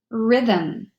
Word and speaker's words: rhythm: in the Greek language the H is completely silent so you only hear the Ruhr of the arm rhyme rhythm rhinoceros he s together